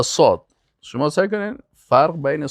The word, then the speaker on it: صاد: اما صاد، صاد، سواد نگوین، واو زیاد نکنین. صاد. صاد. بعضی کسا میگن سواد. سواد غلط است.